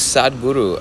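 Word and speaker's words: Sadhguru: funny to say yeah his name is saad guru uh it's a mike here mike tedesco said have you listened to a side guru and that's the way you spell it s a d h g u r u just like guru and yeah he's um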